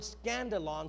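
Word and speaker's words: skandalon: Now immediately, we kind of recognize that word scandalon sounds like the word scandal.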